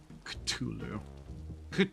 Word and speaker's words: Cthulhu: Cthulu culu culu. it it's genuinely supposed to be like pronounced Culu or something like that, but at this point I don't think anybody properly cares other than massive nerds.